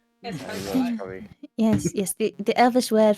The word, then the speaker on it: escargot: Escargot, yes. Ah, yes. You elves and your unnecessary letters. Escargot.